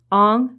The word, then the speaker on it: Ong: Ong, spelled O-N-G, is basically the same as Wang, or Ng, spelled N-G, which is the Cantonese pronunciation.